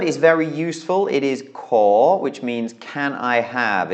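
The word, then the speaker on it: ขอ: It's ko kai or ang. So it's a high-class consonant and then a long vowel with no final. So that makes it a rising tone, a live syllable.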